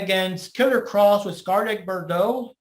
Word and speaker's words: Bordeaux: Fighting against Killer Cross with Scarlett Bordeaux. It's pronounced Bordeaux in the background with him and everything.